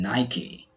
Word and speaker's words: Nike: Some other words we pronounce the final E are recipe, acne, and Nike.